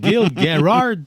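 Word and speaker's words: Gil Gerard: Gil Garard même qu'on le prononce. Oui Gil Garard.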